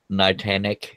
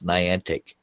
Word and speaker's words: Niantic: just say all no it's not night anak it's Niantic okay I mean it